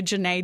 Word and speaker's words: Jenee: But the awards and, my hometown put my name up on the city limit sign and made a Jenee Day. Oh, it rhymes so nicely, too. Jenee Day.